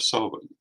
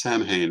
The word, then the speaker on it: Samhain: Another one, of course, that constantly happens is the pronunciation of Samhain, the Halloween coinciding holiday, the Feast of the Dead.